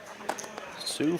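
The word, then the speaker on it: Sioux: while Sue Falls see even us redneck Texans and Oklahomans know how to pronounce Sue absolutely BS all right yeah we got enough crazy uh Native American Indi words around here that we know how to say Sue that's right not a boy named Sue but Sue Indians Daniel Gunther says Kentucky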